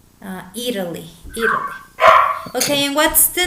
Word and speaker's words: Italy: it can be with Italy or instead of a t you can use like a in British English Italy and American English is more common to soften the tea uh Italy Italy okay and what's